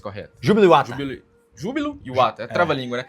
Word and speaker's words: Júbilo Iwata: E agora, voltando, né, para a nossa ordem cronológica, futebol japonês, Júbilo Iwata, como é que é a pronúncia correta? Júbilo Iwata.